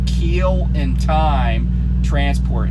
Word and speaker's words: Keel: It's Keel in Time Transport. And Keel is spelled Keel, like the keel of a ship.